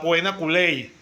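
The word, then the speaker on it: poena cullei: conocía como la la puena culey se pronuncia más o menos así con doble y y era lo que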